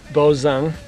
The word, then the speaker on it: Bozung: Okay, name is John Bozung, B as in boy, O-Z-U-N-G, and the best way to pronounce it is like Boz from Bozo the Clown and Ung like from Steve Young.